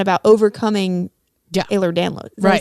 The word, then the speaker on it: Ehlers-Danlos: it's not the journey is not about overcoming Ehlers-Danlos. Did I say it right? Ehlers-Danlos, yeah.